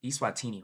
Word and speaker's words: Eswatini: The Eswatini Eswatini Eswatini, I think Eswatini, right? Is how it's pronounced.